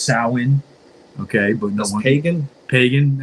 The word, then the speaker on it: Samhain: If you want to be technical, it's pronounced sah-win.